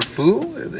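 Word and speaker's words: Fuu: Three main characters, Mugen, Jin, and I guess you call her Fu? F-U-U, that's how you say her name.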